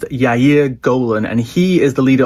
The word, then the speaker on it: Yair Golan: Now, the other person who has caused a storm this week in Israel is a guy, I think it's pronounced Yair Golan, and he is the leader of the Democrats and a former general.